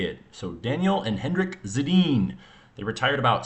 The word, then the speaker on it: Sedin: So Daniel and Henrik Sedin.